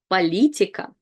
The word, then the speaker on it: Политика: Политика, политика. And again, politics, we have the letter O, just like in English, but we read it as A because it's not stressed.